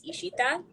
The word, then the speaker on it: Ishita: wasn't it the yeah the bengali pronunciation is like you draw out your letters so it's ishita do people call you